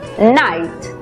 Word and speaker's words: night: En la palabra noche, por ejemplo, que se escribe, vemos que la GH es muda. La I toma su sonido abierto. Por lo tanto, la pronunciación es night.